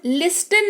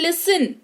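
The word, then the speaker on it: listen: मुलायम या कोमल, लिस्टन नहीं लिसन सुनना, ऑफ्टन नहीं ऑफन यानी कि प्राय।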